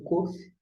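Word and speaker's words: Qof: Nós temos agora o COF, tanto COF com pontinho e sem pontinho, é o COF, o som como o que na palavra queijo, por exemplo, e na verdade é o nosso equivalente a K, né?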